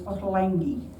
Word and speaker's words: Ottolenghi: The Jewish pronunciation of the name is Ottolenghi.